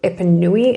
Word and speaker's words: Epanoui: It is called Epanoui, and look at that colour.